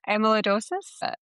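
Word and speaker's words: amyloidosis: patent on Vindamax uh which is for ATR amaloidosis. Heather, you probably can pronounce this a lot better than I can. Uh, amalidosis.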